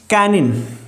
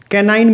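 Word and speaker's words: canine: Number 2 होता है कैनिन, कैनाइन भी बोल देते हैं इसको, अलग अलग डिक्शनरी में अलग अलग प्रोनाउंसिएशन मिलेगी।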